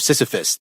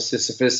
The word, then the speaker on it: Sisyphus: heard the stone of Sisyphus and I think you know it's a really tough name it sounds like kind of rhymes with syphilis you know I've heard